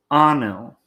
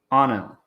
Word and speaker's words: Anil: It does rhyme with the word tunnel, but you just drop the word T from tunnel. So Anil. Anil.